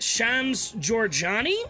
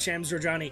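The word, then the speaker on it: Shams Jorjani: Chief Creative Officer, while, as I understand it, is pronounced Shams Georgiani?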